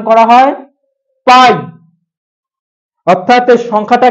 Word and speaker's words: π: পি আই ঠিক আছে পি আই মানে পি পি না এটাকে একচুয়ালি উচ্চারণ করা হয় পাই ওকে উচ্চারণ করা হয় পাই অর্থাৎ সংখ্যাটা কি সংখ্যাটার